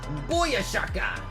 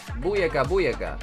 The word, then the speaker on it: Booyaka: Booyashaka. Is that how they say it? I thought it's Booyashaka, isn't it? Booyaka. Yeah, Booyaka.